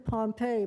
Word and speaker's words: Pompey: It was written Pompey, but Nantucketers pronounced it Pompey.